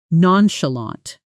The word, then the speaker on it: nonchalant: Pronunciation: nän-shə-länt nonchalant.